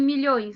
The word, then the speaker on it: milhões: Ô, Nicolas, qual que é a sílaba mais forte em milhões? Não é a última, onde tem o acento? Se a última sílaba é a mais forte, então vai ser o quê? Oxítona.